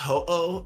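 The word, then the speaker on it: Ho-Oh: the legendary the pokemon it's pronounced ho oh okay hey hello hey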